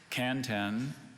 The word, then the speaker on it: kanten: may i have all the information again please kanten is a noun from japanese kanten is any